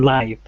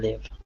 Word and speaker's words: live: home when he live so for the first one first one live and the second one live excellent well done that vowel sound changes thanks there okay thank